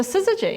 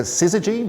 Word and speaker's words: syzygy: And this is a syzygy, as you say. Yeah, a syzygy, the name of our podcast.